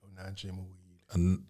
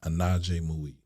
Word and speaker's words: Onaje Muid: It's 3 syllables, Onaje, and the last syllables, Muid, Onaje Muid. Onaje Muid.